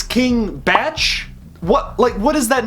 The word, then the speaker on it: Bach: I said King Bach because, you know, Bach is spelled the exact same way, so I just assumed. But clearly I'm wrong.